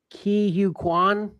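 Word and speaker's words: Ke Huy Quan: Uh this has uh Key Hugh Kuan. Did I pronounce that correctly, Pat?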